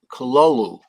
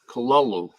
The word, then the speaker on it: Cthulhu: is pronounced it yeah I was looking at the pronunciations uh online and they said Lovecraft actually had a letter where he explained it to a young amateur science fiction writer and it comes out pronounced cologne cololu kalolu okay well but anyway anyway